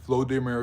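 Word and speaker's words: Volodymyr: it's Vladimir Putin versus vlodimir zalinski um the pronunciation of the name is different because of the different cultures um just like John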